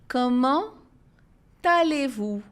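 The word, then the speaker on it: Comment allez-vous: Com talevu. Com talevu. Esse som do talevu é o t do com que juntou com o a.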